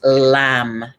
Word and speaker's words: lam: spine the sound is lamb l a m let the m ring out let your l ring out chant it high or low breathing three rounds of red in and chanting lamb out breathing red in